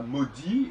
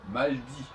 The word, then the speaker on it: maudit: On dira maudit et non pas maldit.